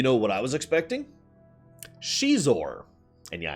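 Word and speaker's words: Xizor: Shizor. And yeah, I hate that pronunciation, but that is the accurate pronunciation.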